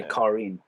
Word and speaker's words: Karin: Yeah, so I'm trying to say Karin. I'm gonna say Karen.